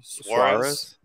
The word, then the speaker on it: Suarez: So I'm curious, is this Mayor, how do you pronounce his name? Suarez.